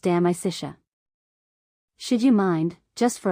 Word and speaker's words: De Amicitia: We finished Livy and De Senectute and are now engaged with De Amicitia, pronounced De Amicitia.